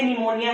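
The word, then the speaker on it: pneumonia: जैसे कि निमोनिया, बोलते निमोनिया है लेकिन स्पेलिंग शुरू होती टी से है।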